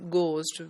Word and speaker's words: ghost: the correct pronunciation is ghost when H is not pronounced at all but people from outer